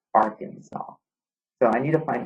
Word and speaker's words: Arkansas: It says the land area of, even though that sounds like it says Arkansas, the right way to say it is Arkansas.